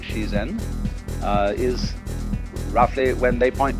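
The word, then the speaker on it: 自然: Dai zhiran, or the Japanese pronounce it shizen, is roughly when they point to all the things happening around us, that's zhiran.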